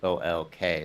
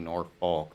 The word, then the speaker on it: Norfolk: Imagine Yeah, a there's a city in Nebraska too called so it's spelled Norfolk. So you think Norfolk, right?